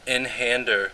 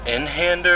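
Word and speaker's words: Einhänder: pretty cool guy obviously is it inhander or einhander i think it's einhander because it's german but um i'm american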